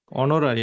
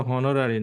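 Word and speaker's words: honorary: তারপরে হি ওয়াজ অ্যান অনারারি professor, এটা আসছিল এই যে গত পরীক্ষাতে, অনারারি, এটা কিন্তু হনোরারি না।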